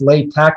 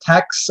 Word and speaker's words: LaTeX: on like the pronunciation it's late tech not like tex or lat tech um sometimes and it's